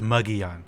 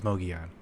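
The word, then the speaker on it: Mogollon: yeah the mogeon rim it's muggy on i thought it was mogeon unless there's two different pronunciations no my whole life nobody has ever said it right okay i i thought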